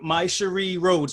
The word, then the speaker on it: Mysherri Rhodes: all right so so so I'm here with my Cherie Rhodes right I pronounced that correctly yes all right and and